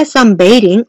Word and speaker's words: sunbathing: 해변에서 일광욕을 하고 있으면 이거 발음 좀 주의해줘야 되는데 sunbathing이라고 th 발음 살리면 안 되고요. sunbathing bathing이라고 발음합니다. sunbathing on the beach, sunbathing on the beach라고 이야기하면 됩니다.